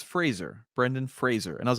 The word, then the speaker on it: Fraser: And I started to see more and more interviews come out where he said, it's Fraser, Brendan Fraser.